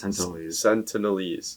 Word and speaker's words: Sentinelese: sent senators oh yes sentinelese yeah that's how you pronounce it yeah um but the